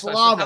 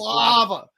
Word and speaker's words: Slava: Yeah, it's Slava. a little hard to pronounce. Slava.